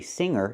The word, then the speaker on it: singer: So, we see with the word singer, we do not pronounce the hard G. We say singer, not singer.